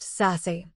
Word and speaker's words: SASE: Act 2 is Zero Trust, sometimes called SASE, Secure Access Service Edge, pronounced SASE.